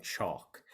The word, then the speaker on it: chalk: making my yelp, is I kind of make my mouth in the form like I'm saying chalk. But when I make a series of yelps, I don't try to pronounce the K, so it's more like chomp, chomp, chomp, chomp, chomp, chomp. But then if you're doing a quicker yelp, which we'll talk about in the next slide, then you do pronounce the K.